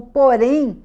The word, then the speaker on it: porém: O porém, que é uma conjunção coordenativa adversativa, vai ter o acento no e, porque a sílaba mais forte é o porém, não é o porém.